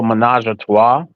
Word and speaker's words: Ménage à Trois: Track 7 is Minaj Minaj a choice. I think that's how you pronounce it. Oh, Menage a Trois. Oh yeah, yeah, yeah. Thank you. Minaj a Trois. Yeah, Menage a Trois. Yeah. That's Um how to pronounce it.